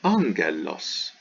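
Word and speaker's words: ἄγγελος: kappa c or chi then it's pronounced like n n so this is not ag but angelos angelos we get it's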